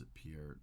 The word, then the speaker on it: Peart: unexpected news of Neil Peart death pronounced appeared but I've always pronounced it pert so but I wanted